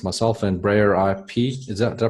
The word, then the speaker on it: Brayerip: It's myself and Breyer IP. Did I pronounce it right? I say it Breyer Rip, but say it however, Okay.